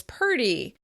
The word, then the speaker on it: pretty: Some American dialects pronounce "pretty" as "purty," and "hundred" as "hunderd."